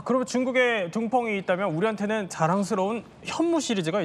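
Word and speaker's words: 东风: 이제 중국 발음은 이제 둥펑 미사일인데요. 네. 이제 이것은 미사일이 하나가 아니라 여러 계열입니다. 단거리 미사일서부터 대륙간 탄도 미사일까지 여러 종류의 미사일을 현재 지금 둥펑 미사일이다라고 칭한다라고 좀 말씀드릴 수 있겠죠.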